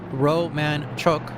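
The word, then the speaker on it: Romanchuk: CP Greeny Roman Chuk is pronounced Roman Choke.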